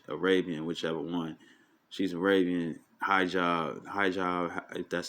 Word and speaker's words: hijab: She's Arabian, hijab.